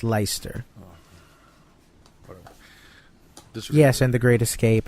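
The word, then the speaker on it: Leicester: look it up sir the FIFA guys call it less gesture right cuz that's the wrong way to say it well that's how it's written it's pronounced Lyster yes and The Great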